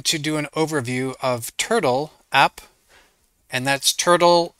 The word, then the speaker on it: Turtl: video I'm going to do an overview of turtle app and that's Turtle it's spelled t r TL without an e so